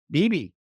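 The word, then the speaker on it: Beebe: podcast before, and George, does he pronounce it Beeb or BB? Beeb? BB. BB. He hasn't changed it in light of recent Middle Eastern history. No. Still BB.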